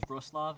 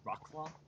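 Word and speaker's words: Wrocław: I value, say, pronouncing Vroslav as Vroslav as opposed to Rocklaw, and things like that, because I think like an educated person in power is generally a good thing.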